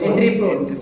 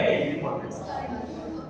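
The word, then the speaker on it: entrepôt: Import, export, Entry port. Very good. You remember so many things. Entry port trade. T is silent.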